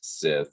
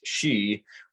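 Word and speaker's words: sìth: in Scottsdale in Scotch in Scottish it is not pronounced Sith it is pronounced she which is nearly identical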